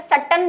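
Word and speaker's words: Sutton: ठीक है, तो वो ज्यादा डिस्कशन नहीं, क्योंकि इसको वैसे सट्टन बोलेंगे।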